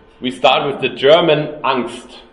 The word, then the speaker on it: Angst: But at the beginning, we start with the German Angst, right? It's an English term. How do you pronounce it, Brian?